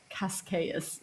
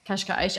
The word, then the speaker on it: Cascais: So we're going to be in a place called Cascais, spelled like Cascais, for an English person reading it, Cascais.